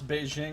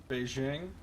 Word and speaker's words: Beijing: happy you pronounce Beijing with a hard J out of soft J Beijing Beijing most people outside the